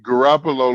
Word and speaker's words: Garoppolo: Garoppolo what's that how you say his name Garoppolo like you said it guapalo is going to be the next last year